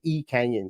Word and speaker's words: Lee Kang-in: I've been reliably told that you drop the L at the very start if you were to say this in Korean and it would be e Canyon so that's that's how